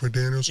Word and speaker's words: McDaniels: Am I saying it right, Josh McDaniels?